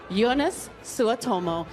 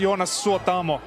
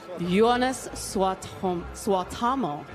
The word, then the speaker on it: Jonas Suotamo: Ladies and gentlemen, Jonas Suotomo. Hi, how are you this evening? I'm very good. It's pronounced Jonas Suotamo. Jonas Suotamo.